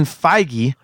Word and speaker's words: Feige: reason but as you corrected me on the pronunciation of his name Kevin Feige the guy who's been running that entire huge